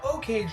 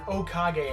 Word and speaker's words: Okage: Now, Okage, or Okage as I was recently told that's how you pronounce it, was actually one of my very first turn-based RPGs.